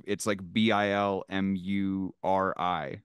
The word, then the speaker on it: Bilmuri: yeah, it's spelled weird. It's like Bilmuri. So you can't just search like the name. Okay, It yeah. always sucks telling people like, yeah, I really like Bill Murray, and they're like, yeah,